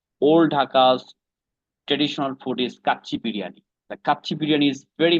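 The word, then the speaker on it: kacchi biryani: Also, was it kachi biryani?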